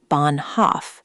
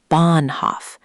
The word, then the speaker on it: Bahnhof: Take Bahnhof again. It's not Bahnhof, 2 equal beats. It's Bahnhof. Big stress on the first part, the second part shrinks.